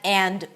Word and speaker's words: and: So it's not going to be bread and butter. bread and butter. But I drop the d. I reduce the a to uh bread and bread and bread and butter.